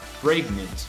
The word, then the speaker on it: pregnant: one yes this one will say pregnant this is the way we pronounce it you're pregnant and the